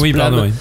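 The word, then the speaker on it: Blame!: Alors Blam se prononce Blam, parce que c'est Blam avec un point d'exclamation, qui est un onomatopée.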